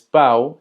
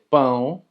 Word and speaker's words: pão: dirías eu quero comer pão, pão, pão. Tiene el acento chiu. Y es muy importante porque si tú dices pau en vez de pão, tú estarías diciendo eu quero comer pau.